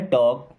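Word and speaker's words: talk: टॉक टू मी देखिए के के पहले और एम के पहले कभी भी अगर एल आता है तो एल रहेगा साइलेंट ओके एंड इसे पढ़ना है टॉक टॉक मींस होता है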